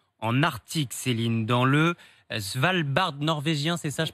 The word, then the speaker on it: Svalbard: On va parler de ce nouveau record de chaleur inquiétant en Arctique, Céline, dans le Svalbard norvégien, c'est ça, je prononce Vous bien?